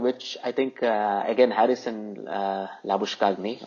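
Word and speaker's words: Labuschagne: I think again Harrison la bouche Cagney or la bouche a the way they pronounce it so this guy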